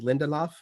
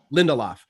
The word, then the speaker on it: Lindelof: Lindelof. Lindelof.